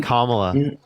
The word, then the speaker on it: Kamala: She's having Kamala.